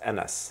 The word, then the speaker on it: Anas: My name is, it's A-N-A-S, pronounced Enes.